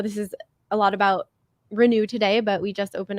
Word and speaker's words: Renu: So Renu is like a play on renew your body, Right. even though it's spelled RENU.